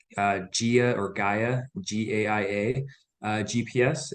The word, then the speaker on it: Gaia: I pronounce it Gaia, Gaia, Gaia.